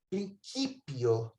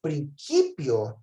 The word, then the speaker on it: principio: Gente, na pronúncia erasmiana, o C é som de K. principio.